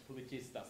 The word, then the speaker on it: Pubblicista: Pubblicista. Sorry. So this is a lesson in my pronunciation, which is terrible.